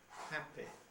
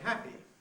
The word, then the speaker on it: happy: however things are changing millions millions of speakers including many speakers whose speeches otherwise receive pronunciation now use a rather closer and tensor quality quality and say happy very sorry nicely okay with an e which they may well identify with the e of sheep rather than with the